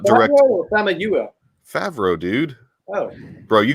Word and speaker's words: Famuyiwa: It's Famuyiwa. Famuyiwa. No, that's wrong. It's Famuyiwa. I'm not touching it.